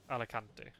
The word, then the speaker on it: Alicante: Alicante. How do you pronounce it? Alicante.